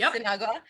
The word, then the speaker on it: Cynagua: I hope it's pronounced Cynagua. Perfect.